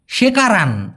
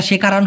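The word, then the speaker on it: sekarang: জিজ্ঞাসা করেছেন আসসালামু আলাইকুম মিরাজ ভাই ওয়ালাইকুম আসসালাম সেকারান ভাই এটা শেখারান হবে না হবে হচ্ছে সেকারান সঠিক উচ্চারণটা হবে সেকারাং অথবা মাসি মাসিও না ভাই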